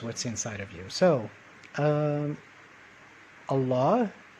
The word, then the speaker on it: الله: inside of you so allah like we said is the name of god and the right way to pronounce it is by making the emphasis on the second syllable instead of the first okay very good so